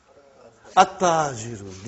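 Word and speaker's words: التاجر: Okay, you did not pronounce, you skipped it. Okay. At-tajiru. You see, your tongue has to touch, the upper part of your mouth inside.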